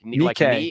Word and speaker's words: Nikkei: Nikkei, how do you pronounce that from Nikkei. Japan? Like Nikkei and then K. Yeah. There you go.